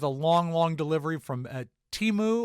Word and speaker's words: Temu: long long delivery from teu or as I heard it pronounced on the news today temu but they did eventually